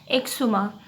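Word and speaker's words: eczema: तो इसका प्रोनाउंसिएशन होगा एक्सुमा।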